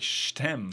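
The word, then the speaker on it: je t'aime: syllable almost yes like it sounds like Shem yeah yeah stem of a rose if you're pronouncing it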